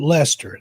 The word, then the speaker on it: Leicester: Just not far from where I live, there's a little town called Leicester. That's how you pronounce that.